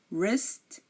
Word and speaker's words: wrist: these words wrap wrinkle wrist right wrong you are not hearing the W in any of these words I'm going to repeat